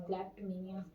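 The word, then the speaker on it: kleptomania: तो उसे कहते हैं क्लैप्टमैनिया, क्लैप्टमेनिया बहुत बड़ा वर्ड है, बोलने में भी क्लैप्टमेनिया, ओ साइलेंट है यहाँ पे, ठीक है, क्लैप्टमेनिया।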